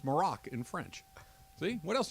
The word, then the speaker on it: Maroc: Golan's Shahibi says, hey, Trav, just an FYI, Morocco is abbreviated MAR because it's known as Maroc, M-A-R-O-C, in French.